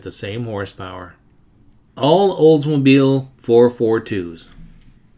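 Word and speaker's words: 4-4-2: we'd like to emphatically state that the correct pronunciation according to the earliest Factory literature is 442 it's not 442 as we often hear it designates a performance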